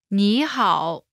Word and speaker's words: 你好: Pronunciation note: when there are two third tones in a row, the first one changes to the second tone.